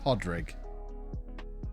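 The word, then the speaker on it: Pádraig: It's pronounced Podrig.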